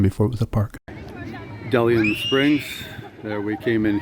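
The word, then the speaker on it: De Leon: That's how they pronounce it, DeLeon Spring State Park.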